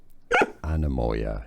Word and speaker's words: Anemoia: Anemoia is how to pronounce it.